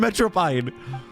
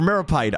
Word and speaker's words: Meropide: What's going on in the Fortress of Metropide? Or Meropide.